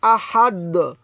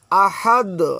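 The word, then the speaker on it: أحد: হ্যাঁ, বা ত কফ জিম আর যদি দাল হয়, অর্থাৎ এখানে দাল যেহেতু রয়েছে তাহলে এখানে কলকলা করে পড়তে হবে। আহাদ, আহাদ, অর্থাৎ ড্রপ দেওয়ার মতো উচ্চারণ হবে।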